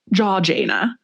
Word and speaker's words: Georgiana: I actually saw a pronunciation note from a British writer that was pronounced jaw like your jaw. Jaw Jana, which I guess it would be.